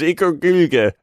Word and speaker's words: Ikaruga: It's Ikaruga.